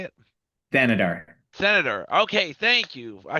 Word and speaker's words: Thanedar: So Neil Thaneder, uh, And how do you say it? Thanedar.